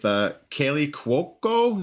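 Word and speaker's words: Kaley Cuoco: With Kaylee Cuoco, is that how you pronounce her name?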